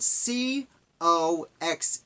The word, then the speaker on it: Coxe: last name is spelled c-- o x e I believe that's pronounced coax it might be Cox but I'm gonna stick with coax if you've watched this